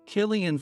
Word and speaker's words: Killian: her hurriedly did the same their cards read Killian Foster managing editor at daylight press and Katherine